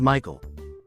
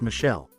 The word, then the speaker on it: Michael: adamant it was pronounced Michelle. Mom, bemused, said something along the lines of, "It's literally a name from the Bible. It's pronounced Michael and has been for thousands of years."